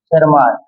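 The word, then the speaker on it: Tschermak: ईवी सरमैक, ये जो थे टी साइलेंट है यहाँ, सरमार्क, ठीक है ना।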